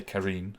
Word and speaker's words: Karine: karen's office and um i should say karine is the intended pronunciation um and uh go